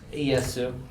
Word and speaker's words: Ieyasu: My name is Ieyasu. That's how you say it in Japanese.